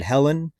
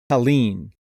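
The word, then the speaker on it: Helene: video or was it two videos ago I pronounced the hurricane I think I said Helen it's actually Helen um if I would have watched more mainstream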